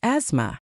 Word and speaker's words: asthma: And then there's asthma. The in the middle is usually silent.